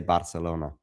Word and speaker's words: Barcelona: Your pronunciation of Barcelona is pronounced in the Spanish way. I think Catalan would say Barcelona.